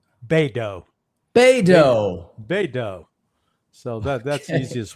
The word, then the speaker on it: Beidou: Think of Play-Doh, Beidou.